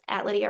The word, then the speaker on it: Lydiah: So, my name is Lydia Urban, and it's spelled with an H at the end of Lydia.